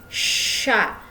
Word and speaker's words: chats: Dibacanya ce sont nos chats. Jadi C sama H itu dibacanya sh seperti huruf shod kalau bahasa Arab.